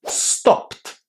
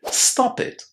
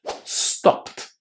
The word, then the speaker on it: stopped: So, in here, we need to say stopped without adding any extra syllables. This can be quite hard, but you really have to try because if you add an extra syllable here, you will say stop it. And stop it is an imperative telling somebody to stop doing something.